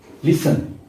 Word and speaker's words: listen: Next लिसन, LISTEN लिसन, सुनना, to hair, सुनना, टी इसमें साइलेंट है।